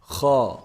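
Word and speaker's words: خاء: Kha. How do you say kha? The heavy letter. So kha is the first heavy letter we have here in the alphabets. Now kha, as we mentioned in ha, it's part of the throat letters.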